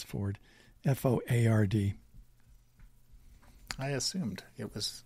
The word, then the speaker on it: Foard: It's spelled Foard, but it's Ford. F-O-A-R-D. I assumed it was Ford, but you never know.